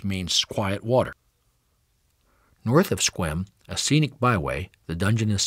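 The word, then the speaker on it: Sequim: The E in Squim is never pronounced, except by newcomers. Its name is derived from the S'Klallam word, ch-qua-ing, which means quiet water. North of Squim, a scenic byway, the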